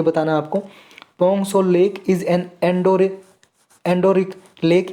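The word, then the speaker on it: Pangong Tso: पोंग सो lake is an endorheic lake in the Himalayas. Endorheic lake है क्या जी हिमालयाज में, पोंग सो lake, पेंगोंग सो lake, T silent है जी इसमें।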